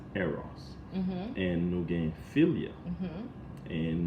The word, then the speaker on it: eros: But the correct pronunciation in English is eros.